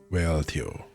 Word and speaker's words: Wealhtheow: Whale tail. Well, Teo. Teo. Well, Teo. This time the H is silent.